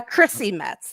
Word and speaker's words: Chrissy Metz: about i'm just trying to make sure i'm pronouncing her name is it christy metz or christy metz uh chrissy metz there we go i just checked it up